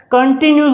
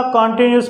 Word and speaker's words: continuous: बहुत सारे बच्चे क्या करते हैं, इसको कंटिन्यूस बोलते हैं. हालांकि इसको एक्चुअल के अंदर कंटिन्यूस नहीं प्रोनाउंस किया जाता, कॉन्टिन्यूस प्रोनाउंस किया जाता है.